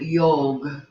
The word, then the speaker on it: yog: The definition of the word yog, which is the Sanskrit pronunciation of the word yoga, definition of the word yog means union.